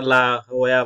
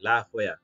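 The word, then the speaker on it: La Jolla: এইখানেও তো আমাদের এইখানে ক্যালিফোর্নিয়াতে একটা শহর আছে, উচ্চারণ হচ্ছে লা জোলা। হুম, তো ওরা লা হোয়া বলে, লা হোয়া। এটা একটা স্প্যানিশ প্রনাউন্সিয়েশন, এই যে এটাকে ওরা ইয়ে ই হিসাবে ইউজ করে আর কি, ওরকম মনে হয় আর কি।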